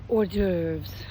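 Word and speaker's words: hors d'oeuvres: That used to be one of the horses or orves as fancy people call it. I like horse doovers cuz you know that is kind of how it's spelled.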